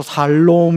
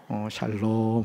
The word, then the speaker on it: 샬롬: 이걸 발음을 잘못해서 살롬 이러면 안 돼요. 샬롬 하셔야 돼요. 샬롬.